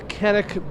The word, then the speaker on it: Canik: We're over here at the Canik booth.